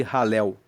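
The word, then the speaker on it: Hallel: Depois, o 113 até o 118, nós temos os salmos de ralel. Salmos de ralel. Ralel se escreve H a L e L.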